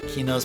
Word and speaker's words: Kino: Kino's pronounced Kino. Go ahead and pronounce it Keno if you want, though.